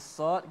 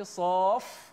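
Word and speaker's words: ص: Ada setengah tu doktor dia baca saqaq. Dia qalqalah dengan qaf pula. Ada saya jumpa baca saf, dia baca surah saf dengan fa mati. Maka sad ejaan dia sa, alif, dal.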